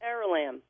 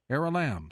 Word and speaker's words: Aralamb: Actually, it's ARALAMB. ARALAMB, simple as that.